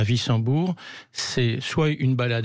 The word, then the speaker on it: Wissembourg: Wissembourg, c'est un W, on prononce Wissembourg.